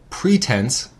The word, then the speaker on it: pretense: one on our list pretence pretenses a noun two syllables pre tense and it means a